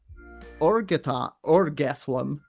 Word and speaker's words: Argetlam: During this encounter, the Danann High King Nuada Argetlam, pronounced Nutha Orgethlum, lost his arm.